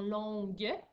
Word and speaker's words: longue: n j'ai une heure c'est important que tu n'oublies pas le u dans longue puisque si tu ne mets pas le u il ya toute une rallonge puisque le g devant le il est doux alors qu'est-ce qu'on fait